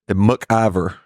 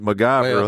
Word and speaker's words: MacGyver: what MacGyver or how do you say it MC Iver M mcer yeah okay it's no G I'm saying like mgy it's like M me and you grew up